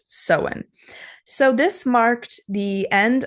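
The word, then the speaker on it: Samhain: originated from a Celtic Festival that is called seen it's spelled s m a i n but it's pronounced seen so this marked the end of the harvest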